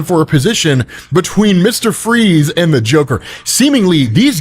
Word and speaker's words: Fries: Freeze is. And so, where Joker keeps calling him Mr. Fries, because technically it is spelled the way you would spell fries, but it is pronounced freeze.